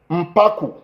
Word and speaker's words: Mpaku: No, that's Mpaku, not Mpuku, Mpaku.